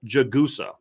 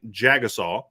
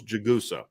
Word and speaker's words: Jagusa: So it's Charles Jagusa. Okay, I've been saying Jagusa. That ain't it. It's Charles Jagusa.